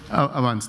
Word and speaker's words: Avanse: Avanse is okay? Avanse, thank you.